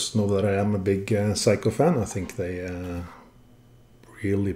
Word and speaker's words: Seiko: And I'm way too old now to change my ways, so I'm gonna stubbornly keep saying Seiko. Not Seiko, but Seiko.